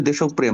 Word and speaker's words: দেশপ্রেম: ঠিক করেছে দেশপ্রেম ইয়েস এটার উচ্চারণ হবে দেশপ্রেম। মানে হল রফলা যখন মাঝখানে বসে শব্দের মাঝখানে বসে শব্দের মাঝখানে বসে তখন যে লেটারটার সাথে বসে ওটা ডাবল হয়ে যায়।